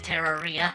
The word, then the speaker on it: Terraria: I didn't want to just have a bland stream announcement at each time, so I said that Terraria is canonically pronounced Terraria, like diarrhea.